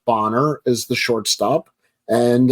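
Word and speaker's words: Bonner: as a third baseman and Bob it is pronounced boner as the short stop and uh you know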